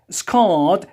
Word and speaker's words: scarred: Scarred. Do you see, when we delete R, yes, in British accent, which is followed by a consonant, yes, you have to pronounce it longer than usual.